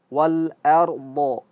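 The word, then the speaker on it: وَالْأَرْض: dahaha e ah huruf wau sepertimana kita sampaikan harus ee ee kita monyongkan mulut terdahulu. Wa wa wal. Nah, kemudian ketika berjumpa dengan alif lamnya harus kembali mulut ee seperti biasa. Wal wal. Jangan membacanya ala kadarnya saja. Wal. Ah, tidak sempurna hurufnya. Harus wal. Wal ard ardho ya. Ini kalimat yang sering ee banyak terjadi ee kekeliruan ya. Wal ard a tipis tapi ketika berjumpa ketika sudah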